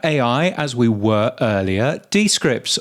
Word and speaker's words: Descript: Talking about AI, as we were earlier, Descripts, or rather Descripts, which is the correct way of pronouncing them, they have been adding more AI tools, haven't they?